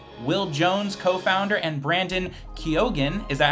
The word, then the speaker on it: Keogan: I think you guys are both from New Hampshire, but it is Kinsmen Sound Studio's Will Jones, co-founder, and Brandon Keogan. Is that how you pronounce it, Brandon?